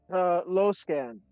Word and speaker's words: Luskan: Luskan. Or Luskan. What's it called? I don't know how it's pronounced. Mantis' character. Mantis, how do you pronounce your Yes. character? Low scan.